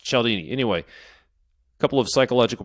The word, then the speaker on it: Cialdini: It is spelled like Cialdini, but it's pronounced Cialdini.